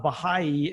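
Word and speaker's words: Bahá'í: the things that that brought me to the Baha'i faith and since I am also new to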